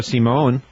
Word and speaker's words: Simon: keeps changing his mind he said that it was Simon at last check well I looked at the pronunciation in the Bill James gu and it said Simone so I I know